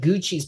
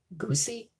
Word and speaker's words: Gucci: yeah exactly like Gucci I would never have thought that Gucci's pronounced Gucci I was like looking at it for the first time when I was a kid I was like goosey goosey is this how to pronounce